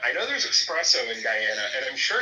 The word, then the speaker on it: Guyana: is when someone corrects me on how to pronounce Guyana.